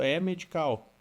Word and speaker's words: EH Medical: Até aproveitando, eu tô falando o tempo todo é medical, mas vocês pronunciam diferente, né? É, a gente usa o H como acendo. É medical. É medical.